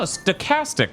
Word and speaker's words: stochastic: a K well no stochastic also pronounces CH as a k it's just not super